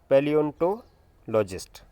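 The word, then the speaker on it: paleontologist: तो देखिए क्या है, स्पेलिंग क्या है यहाँ पे, PLEONTOLOGIST, पैलियोंटोलॉजिस्ट। ओके, तो स्पेलिंग बहुत साफ आपने लिखनी है।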